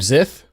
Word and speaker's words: Xyth: to Die forums it's guy named zith I think that's how you pronounce it is it an X if something starts with an X it's a z sound it says a21 but